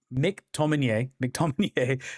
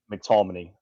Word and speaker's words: McTominay: McTominay, Serie A Scott Player of the Year, McTominay.